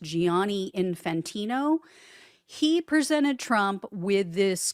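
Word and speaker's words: Gianni Infantino: The FIFA president, his name, I believe, is pronounced Giani Infantino.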